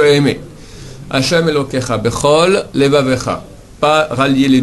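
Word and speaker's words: לְבָבְךָ: Hashem Elokecha, bechol levavecha. Pas rallier les 2 lettres, bechol levavecha, mais bechol levavecha. Maintenant, pas bechol levavcha, la fin, bechol levavecha. Il y a un levavecha, c'est un shva na.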